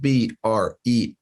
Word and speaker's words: Bream: And Bream is spelled B-R-E-A-M, Bream, like beam that you walk on with an R after the B.